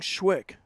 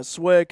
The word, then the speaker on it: SWIC: seven to four uh we're talking about the pronunciations swick kept saying schwick Yeah Yeah swick it's and I've been uh I've been to